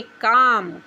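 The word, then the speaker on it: calm: एम से पहले एल आ गया तो हम एल का उच्चारण नहीं पढ़ेंगे। बोलेंगे काम।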